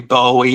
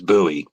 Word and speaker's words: Bowie: the Buoie family is Buoie. Oh, okay. Buoy. Yeah, because we also have I have a lot of people telling me different things. So, for once and for all now it's buoy.